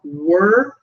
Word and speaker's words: were: So were sounds like fur.